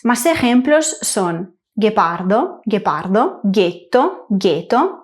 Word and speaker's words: ghetto: El sonido g español lo hacemos con g + u + e. En italiano lo hacemos con G + H + E, espaguetti, guepardo, getto, marguerita. Por último, el sonido g